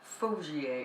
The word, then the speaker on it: Faugier: I can't remember the name, hang on, it's Clement Faugier, I think you pronounce it, F-A-U-G-I-E-R anyway.